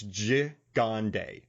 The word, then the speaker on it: Gigandet: you man so i i phonetically wrote his name down and i listened to an interview but it's ji gonday so cam jagande in this movie as